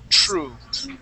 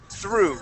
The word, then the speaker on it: through: Now, your THR sound, here you said true, okay? Yeah. Make sure that when you pronounce that TH, you stick your tongue between your teeth and you say through.